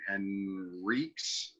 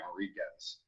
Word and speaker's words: Henriques: How does he pronounce his last name? Henriques. Oh, okay. I keep wanting to pronounce it like the French way, Enriquez, or Enrique.